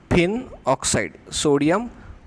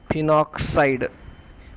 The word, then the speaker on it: phenoxide: बघा कसं वाचायचं याला, sodium फिनॉक्साईड. याच्याखाली sodium फिनॉक्साइड, PHENOXIDE spelling आहे ते, सोडियम फिनॉक्साइड.